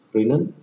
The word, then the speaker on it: Fresnel: S is silent here, Fresnel.